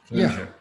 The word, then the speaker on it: Clojure: Clojure. Yeah. We don't have rules built for Clojure yet.